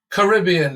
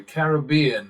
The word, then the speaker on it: Caribbean: here Antiga in the Caribbean as you Americans say Caribbean as it's referred to by people who live there and English people quite